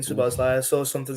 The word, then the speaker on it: Szoboszlai: That's a Szoboszlai. I'm saying Szoboszlai.